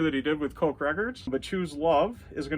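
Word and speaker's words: Koch Records: And this was released on March 25th of 2003, and I believe it's pronounced Coke Records.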